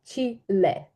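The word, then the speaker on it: Chile: Чилі остання чиле іле бо іспанською мовою Чілі називається чиіле чиіле па іле Прочитай будь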